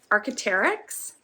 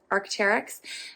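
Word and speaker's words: Arc'teryx: wool ibex and the last one would be archeterics am i pronouncing that correctly archeterics that's what the label looks like if you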